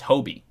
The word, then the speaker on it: Hobie: So not Hoobie, it's Hobie.